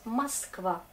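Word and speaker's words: Москва: En russe, Moskva, mais on prononce Moskva, mais on écrit Moskva. C'est pour ça. Regardez, Moskva, du coup le O est abandonné, il ne veut plus jouer son rôle, donc il fait semblant d'être A. Et ça va être partout, comme ça, sauf.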